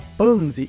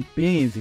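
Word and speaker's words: Panzy: pouco mais sobre a panzi e sim agora eu sei pronunciar o nome dela é panzi e não penzi bom a gente descobre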